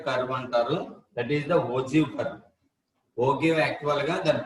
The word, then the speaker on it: ogive: The term ogive is pronounced as a ogive.